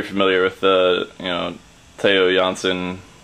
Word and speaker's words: Theo Jansen: with the you know taiyo johnson mechanism or not um i think that's how you actually say his name not theo jansen uh but yeah so